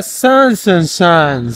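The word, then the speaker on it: Zaanse Schans: Se llama Sandig Hansen Chance. Sandig Hansen Chance. No sé cómo se llama, pero ustedes lo leen ahí. Se pronuncia Sansen Chance.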